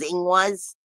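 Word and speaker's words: Ingwaz: is a rune and a lot of people will call this Rune indu but to my understanding the proper pronunciation is ing was and that is seating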